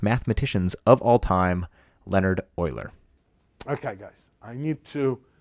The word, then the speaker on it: Euler: people in history of s pronounced OA not Ula never say ula and uh sort of